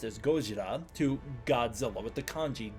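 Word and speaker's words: ゴジラ: That's how it's written, but it is still pronounced as Gojira to Godzilla with the kanji gojira.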